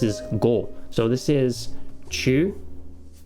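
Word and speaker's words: 中: Chi, but we notice we've got the little u right there, so it's not chi, it's chu.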